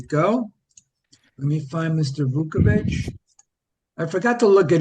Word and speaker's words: Vuckovich: Let's do Cy winner Vuckovich.